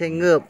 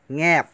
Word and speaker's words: แงบ: ต้อง ด้วย นะ ครับ ไม่ ใช่ เงิบ แล้ว ก็ ไม่ ใช่ งาบ นะ แงบ งอ งู นะ ง ง งู ออก เสียง ขึ้น จมูก นิด นึง ง งู ง งู